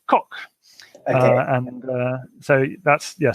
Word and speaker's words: Coq: to say it in English it's it's it's pronounced Kok and so that's yeah coq because it's it's the cockerel yeah its logo